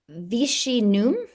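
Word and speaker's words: Viginum: France has pioneered the active defense model through Vichi N as it is pronounced their agency for vigilance and protection against foreign digital interference.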